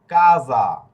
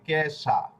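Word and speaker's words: casa: এটা হচ্ছে কাজা। এটার উচ্চারণ কি? কাজা। মানে বুড়িগার জ এর উচ্চারণ।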